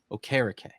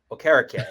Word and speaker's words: Okereke: No keys. Okereke. Like carrot cake. Okereke.